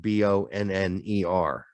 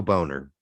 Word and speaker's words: Bonner: he goes what's a bonner well this is my hero just reminds me of it this at least is spelled b-o-n-n-e-r so two ends so no boner it's bonner um mulix synogo 45